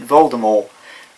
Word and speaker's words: Voldemort: Either way, I'm going to pronounce it Voldemort. Reason for that being that's the way apparently it was always supposed to have been said. It's just the movies decided to put the T at the end.